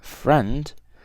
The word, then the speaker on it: friend: okay then we have friend actually friend you guys has a missing eye as well so friend you don't pronounce it but it's there here